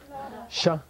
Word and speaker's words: sha: Sha. How do you spell it? Pronunciation. S-H-A. Pronunciation. Sha.